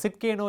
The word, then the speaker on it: Tsidkenu: இந்த வார்த்தை இருக்கிறதிலே சற்று கடினமான ஒரு வார்த்தை, ப்ரொனவுன்ஸ் பண்ணுவதற்கு, உச்சரிப்பதற்கு ஒரு கடினமான வார்த்தை. ஜெகோவா சிட்கேனு. இந்த சிட்கேனு என்கிற வார்த்தை ஆங்கிலத்தில் சொல்லணும்னு சொன்னால் TSIDKENU, சிட்கேனு, ஜெகோவா சிட்கேனு என்கிற வார்த்தை.